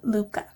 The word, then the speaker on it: Liubka: I finally am confident in saying her name because I found an Instagram video on her Instagram of her saying Liubka. So that is what I'm going with.